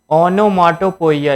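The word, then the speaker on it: onomatopoeia: आगे देखते हैं ओनो माटोपोइया इसको क्या पढ़ते हैं भैया देखो स्पेलिंग लर्न करने के लिए तरीका ओनो फिर माटो फिर पोइया तो ये होता है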